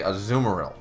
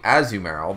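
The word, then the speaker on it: Azumarill: there's another one uh a lot of people say aeril and I say azumal because it because it's a zedu added on to Merill Merill you pronounce Merill so you don't you don't call her maril you don't call Marill meril so why would I say aeril I wouldn't call it maril you know it's Merill so it's AZ you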